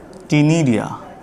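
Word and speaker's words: ctenidia: यहाँ पर लिख देता हूँ, गिल्स और टिनिडिया, सी साइलेंट रहेगा, इसको टिनिडिया भी कहते हैं।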